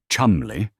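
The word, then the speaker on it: Cholmondeley: Montigue's colleague, Flight Lieutenant Charles Cholandley, pronounced Chumli, because of course it is, has been equally obsessed.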